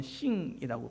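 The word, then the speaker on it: 幸: 중국어로는 싱이라고 그렇게 발음이 되는데 싱 그러면은 매우 신난다는 그런 뜻입니다.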